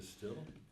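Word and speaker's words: Stihl: steel po saw chainsaw steel is is spelled incorrectly It's s t i h l oh is it a still yeah still they put it to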